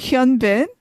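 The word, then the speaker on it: 현빈: but he is, Gong Yu is 6 and Huin Bin is 6'1". According to my sources. I've never seen these. They're all tall, but Oh, were you talking about Hyun Bin?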